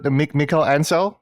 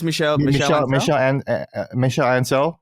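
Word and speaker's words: Michel Ancel: And then that's when they had Michael Ansel. Am I pronouncing that right? I think it's Michel Ansel, right?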